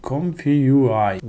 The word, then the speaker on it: ComfyUI: diffusion kurmanızı tavsiye ediyorum conf e conf conf ui diye okunuyor E bunu da yüklemeniz